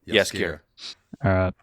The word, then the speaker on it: Jaskier: The dandelion, is it said Jaskier, or how is it pronounced in the stuff? Jaskier. Jaskier. So it's like Jarl, Jaskier.